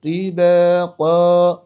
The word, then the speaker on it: طباقا: তিনকে তুই সামাওয়াতিন তিবাকা সামাওয়াতিন তিবাকা সামাওয়াতিন তিবাকা الذي خلق 7 سماوات